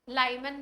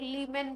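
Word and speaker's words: Lyman: लाइमन भी बोलते हैं, कई लोग लीमन भी प्रोनाउंस करते हैं, है ना। तो प्रोनाउंसिएशन में कुछ नहीं रखा है।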